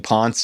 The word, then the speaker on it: Ponce: retrospect, it's obvious because if you think of it in an Italian way, it's definitely Ponce. It's like they would pronounce the E.